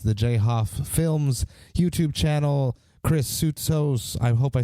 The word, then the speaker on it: Soutsos: Chris Soutsos, I hope I'm saying that right. He says that it's the Greek way of pronouncing it.